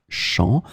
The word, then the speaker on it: champs: So as you can see here, it's the plural form, les champs, with the S in the end, but it's still the same pronunciation because we don't pronounce the final S.